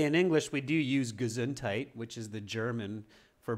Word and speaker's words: Gesundheit: Ava just remember the the pronunciation is not very Germanic it's much more English we just simply say gesundheit I'm sure in German